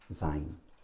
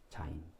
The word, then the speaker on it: 자인: 일곱 번째 자인, 자인, 자인. Z 발음 나요? Zebra 할 때 자인 일곱 번째.